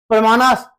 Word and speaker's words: प्रमाण: वहीं से ये आया ये संस्कृत का बेसिकली शब्द है और संस्कृत का शब्द है इसलिए इसका उच्चारण थोड़ा प्रमाणास हम लोग बोलते हैं।